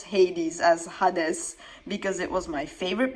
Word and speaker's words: Hades: Hades Kerbex. P.S. Yes, I pronounce Hades as Hades because it was my favorite Beyblade as a kid, and in my language, that's how you would pronounce the word Hades.